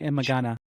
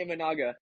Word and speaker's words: Imanaga: Shota Imagana. I can't say his last name. Shota Imanaga. Oh, Imanaga. Shota Imanaga. Yes.